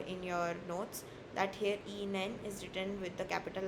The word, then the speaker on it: Ihnen: It is uh Ihnen, like written here, Ihnen. It's not Ihnen. You do not pronounce the h. H is very soft, okay?